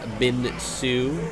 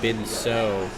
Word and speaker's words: Bin Su: Looks like we also have a quick note here on pronunciation of Bin Su, so make sure that we are correctly pronouncing that. I think I was saying Bin So.